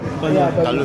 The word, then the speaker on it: balut: I want to try balut. It'll be good. Is that how you say it? Balut? Balut.